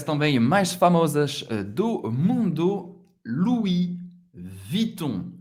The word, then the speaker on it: Louis Vuitton: Uma das marcas também mais famosas do mundo, Louis Vuitton. Louis Vuitton, ok? Louis, o U em francês tem um som do U, da letra U em português. Louis, não vai pronunciar o S.